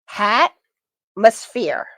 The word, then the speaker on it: Hatmosphere: Hatmosphere. kind of like atmosphere with an H in front of it. H as in hat.